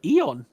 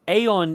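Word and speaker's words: aeon: later okay so technically it actually we do pronounce it Eon that is the preferred way of us saying saying that Aon is the British English while Eon is the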